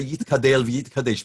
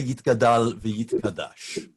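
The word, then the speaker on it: יִתְגַּדַּל וְיִתְקַדַּשׁ: particularly in Yekish Minyanim, that people saying Kaddish actually will say Yit Gadel V'Yit Kadesh, because that conforms precisely to the canons of Hebrew grammar. Most people have adopted the Aramaic style of pronunciation, albeit on Hebrew words, and say Yit Gadal V'Yit Kadash. So we continue.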